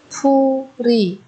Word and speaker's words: 풀이: Ở đây chúng ta nối âm 풀 và y thành 풀이.